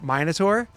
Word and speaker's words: Minotaur: Magus, the Pathfinder class, and he It's pronounced pronounced it Magus. Magus. I was like, fuck, it is Magus. And then there's also Minotaur.